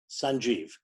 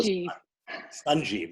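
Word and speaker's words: Sanjiv: All these years, I've spelt my name S-A-N-J-I-V, Sanjeev. I'm going to change it to S-U-N-J-I-V, so I can have even more. Sanjeev, that's the way we pronounce it anyway.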